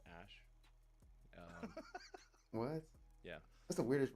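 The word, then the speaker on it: Æ: X um and then the AE is like pronounced Ash what yeah that's the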